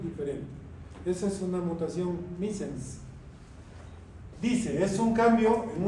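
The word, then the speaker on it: missense: Se escribe misse, pero se lee misens.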